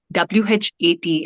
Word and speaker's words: what: okay okay okay so the a in those letters in those words is pronounced as o now the best way